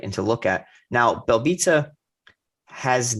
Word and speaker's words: Belbita: It looks like Belbita. That's not how it's pronounced. Yeah. They said it's like pizza at the end.